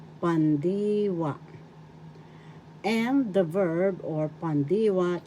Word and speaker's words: pandiwa: now the verb is pandiwa in tagalog pandiwa first syllable pan second syllable d third syllable wa The accent is in the second syllable pandiwa.